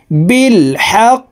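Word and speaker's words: بالحق: সলিহাতি ওতাও ওতাও বিলহা যেহেতু কলকলার হরফ উপরের দিকে ধাবিত করে ধাক্কা দিয়ে সাকিন করে উচ্চারণ করতে হবে বিলহাক বিলহাক ওয়াতাওয়াবিল হা ইললাললাজনা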